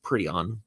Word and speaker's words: Prion: Captain Prion, pronounced Prion, enters.